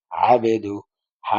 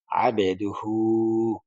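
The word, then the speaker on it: عبده: আবে দাল পেশ দু আবেদু হা উল্টা পেশ হু আবেদুহু আবেদুহু এই আইনটা অনেকে ঠিকভাবে বলে না আবদুহু বলে না আবেদুহু ওয়া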